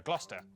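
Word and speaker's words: Gloucester: a couple of Basics sesta is pronounced stir Lester Worster gluster w at the start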